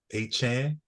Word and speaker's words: Achane: We got Devon Achane, and that's the right pronunciation according to him.